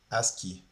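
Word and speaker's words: ASCII: As key as ci. Ah, that's how you say it. Aski.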